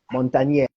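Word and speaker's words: Montagnier: n t a g n i e r Montagne yeah it's French did some beautiful things on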